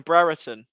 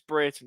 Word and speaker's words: Brereton: um because you know we always used to call him brereton but he then said it it's britain so britain is how you pronounce it i think um i